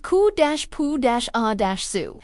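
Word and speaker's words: cupuaçu: It is called koak pronounced ku-poo- a- zoo.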